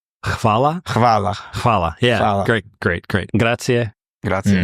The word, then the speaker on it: Hvala: Fa? It's spelled Hvala. Hvala.